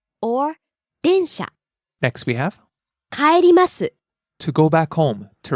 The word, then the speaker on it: 帰ります: 電車 or 電車 Next we have 帰ります to go back home, to return. 帰ります帰ります Rising on the second syllable and falling on the last syllable.